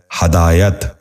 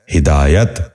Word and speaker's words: ہدایت: غور سے سنیے، وقوع۔ ساتواں لفظ ہے ہدایت۔ یہ غلط تلفظ ہے، درست تلفظ ہے ہدایت۔ دوبارہ سنیے، ہدایت۔ بچوں